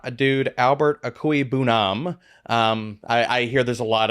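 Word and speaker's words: Okwuegbunam: Albert Okoye-Bunam.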